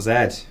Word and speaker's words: Zed: Oh, it's spelt Z. Yeah. So he's not just Dr. Z in North America. He's actually Dr. Zed.